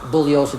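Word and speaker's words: Bugliosi: my name is pronounced bulliosa the g is silent I've told you this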